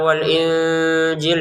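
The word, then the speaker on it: الْإِنْجِيلَ: Untuk kata wal injil ini kita juga sama menyamarkannya ya. Nun sukun bertemu zai, nun sukun bertemu jim. Kita samakan wal injil. Jadi jangan sekedar wal injil. Wal injil ya kan kita tidak sempurna ya kayak gitu ya.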